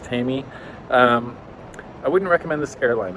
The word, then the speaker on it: TAME: It's spelled in English, it looks like tame, but it's pronounced Tami.